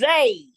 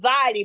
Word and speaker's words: Zade: that woman's name okay Zade it's Zade Zade uhhuh see I thought it was Z because the AIG and I thought okay it's either a it's either one syllable or two but I decided it was zy but I I'll have